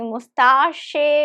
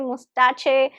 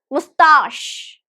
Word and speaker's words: mustache: So it has only 2 syllables and the stress is on the second one.